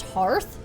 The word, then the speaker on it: hearth: which i've also recently learned that it's not pronounced hearth it's pronounced hearth so yeah and you know how like a